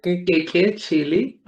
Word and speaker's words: Keke Chele: Keke Chele. Keke Chele. Okay. So excuse me in advance if I do mistakes pronouncing the name because I'm terrible in that.